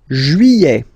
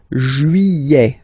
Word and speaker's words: juillet: Juillet. Okay, you get this double L here. Yeah. Juillet. Juillet. Don't pronounce this final T, E-T here at the end.